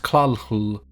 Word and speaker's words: Cthulhu: similar to how Cthulhu is supposed to be pronounced claw Lu earlier' has some rather weird alien pronunciations to